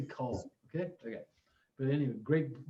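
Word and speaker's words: Kühl: jacket before which is k-u-h-o which they actually pronounced cool but i i just can't say i mean who says they wear cool pants or a cool vest or a cool jacket i'm going to say call okay okay but anyway great great brand um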